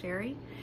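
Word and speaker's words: Cheré: My name is Sherry, and that is spelled C-H-E-R-E. It is spelled a little fancy, but pronounced plain old Sherry.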